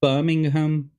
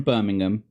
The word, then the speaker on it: Birmingham: No, I don't know anyone who says Birmingham, but it's Birmingham, which isn't even though it's spelled ham at the end, it's an um sound.